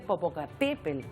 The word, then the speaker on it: Popocatépetl: lo cierto Es que todos estamos acostumbrados a decir Popocatépetl y se dice Popocatépetl con la el acento o también se puede